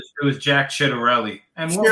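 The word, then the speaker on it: Ciattarelli: and the RNC didn't really support was it Cisanelli or how do you pronounce his name? It was Jack Chidarelli and Chidarelli.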